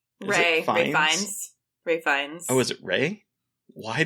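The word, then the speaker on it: Ralph Fiennes: Ray Fiennes. Oh, is it Ray? Why did I say Ralph? I think it's Ray Fiennes. It's like, so it's weird. It's like, you don't pronounce it like Ralph.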